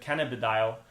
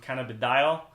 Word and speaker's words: cannabidiol: couldn't pronounce it but cannabidiol or Canada deal some people have different pronunciation for that I stayed with cannabidiol I think that's the easiest one I really took us